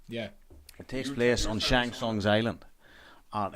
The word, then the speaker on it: Shang Tsung: Shanggong. Yeah. How do you pronounce it? Shang Tsung. Shang Tsung.